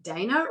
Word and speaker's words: Dana: My name to Americans is pronounced Dana, but in Australia we actually pronounce it Dana.